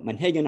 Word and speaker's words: Monhegan: of the folk there i tend to pronounce it the way they say it as a tribute and honor to all of those wonderful people so manhigan island so the island is